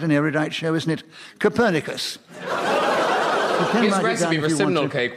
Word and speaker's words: Copernicus: A less scholarly person than myself, indeed an ignoramus, might look at the name Copernicus and mispronounce it Copernicers, a garment of extreme discomfort due to its inflexible nature. However, Copernicus, the man, unlike myself,